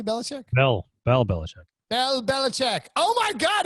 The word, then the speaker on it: Belichick: Bell Belichick.